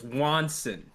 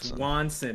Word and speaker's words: Swanson: And I would always correct her on the pronunciation because she would say Watson like uh Sherlock and Watson. Yeah. And I would like no it's Wansson. Swanson, mom.